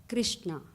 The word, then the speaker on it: कृष्ण: तो जैसे हम हरे राम संकीर्तन करते हैं तो सबको हिदायत कर दी कि हरे कृष्ण कृष्ण कृष्ण हरे हरे, ना हरे कृष्णा. But most people do say Krishna still. But the correct pronunciation is Krishna.